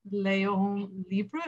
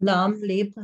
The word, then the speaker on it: L'homme libre: It's called Léon Libre. Is that how you pronounce it? L'homme libre, yeah.